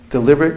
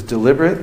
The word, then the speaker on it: deliberate: It actually, deliberate can be pronounced as deliberate or deliberate.